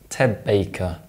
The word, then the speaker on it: Ted Baker: Baker is actually pronounced Ted Baker. In fact, assimilation is so consistent, it's effectively a rule. Whenever an alveolar plosive or nasal is followed by a bilabial sound, it's replaced by a bilabial sound.